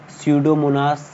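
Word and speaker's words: Pseudomonas: दूसरा एग्जांपल है सडोमोनास। सडो की spelling P एस ई यू डी ओ एम ओ एन ए एस सडोमोनास।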